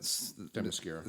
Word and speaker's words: Themyscira: Themyscira.